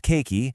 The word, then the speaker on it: keiki: It's pronounced keiki, and it's the Hawaiian word for the little one.